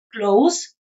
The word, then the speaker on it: close: Close. Termina con S porque esta I o E del final es muda.